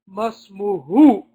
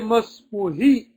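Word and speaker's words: ما اسمه: So why are we saying masmuhu? Who? Didn't we say that mudafun ilayhi is supposed to have a kasra? Masmuhu. Why don't we say masmuhi? Naam ya ikhwa. Again, Hudayfa comes in with the golden answer. It's a pronoun. It's a damir. And the dama'ir are fixed in their position. So this introduces itself as who, it stays who, but its state, its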